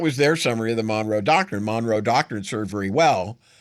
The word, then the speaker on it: Monroe Doctrine: We believe that the John Doe Doctrine. He can't even say it right. It's the Monroe Doctrine.